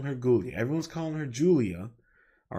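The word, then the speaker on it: Giulia: Io, Rhea versus Gulia and Perez. I know it's Julia, but she fights like a ghoul, so I'm calling her Gulia.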